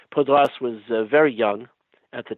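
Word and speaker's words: Paudras: And um Pal Podra was Podras it's pronounced Podras was very young at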